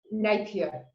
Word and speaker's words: Napier: Is this how you pronounce? Napier. Okay, I pronounce it the French way.